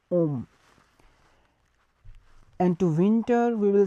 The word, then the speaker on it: homme: So to a man we will say homme, because H in front of that word is silent. So we will say homme.